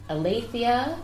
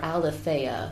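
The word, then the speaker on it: aletheia: neglected is called um and i'm terrible at pronouncing greek so it's either alathia or alifaya but it's a l e t h e i a i like to just say alathea because it's pretty um i i alternate between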